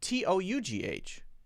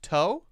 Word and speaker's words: tough: How about T-O-U-G-H? Is that pronounced toe? Tough. So one is f and one is o.